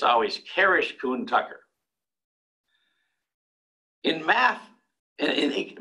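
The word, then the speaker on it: Kuhn–Tucker: uh the math literature Kish kuner and by the way the proper pronunciation is Kish not kouch not something else it's Kish um dick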